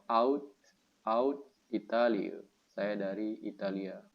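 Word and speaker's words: uit: Italia atau out out ini bacanya u i out out Italia Saya dari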